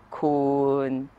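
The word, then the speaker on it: คูณ: Kun, miton, kun, kun is pronounced with a long vowel sara u. If you pronounce it with a short vowel sara u, it becomes kun, meaning you.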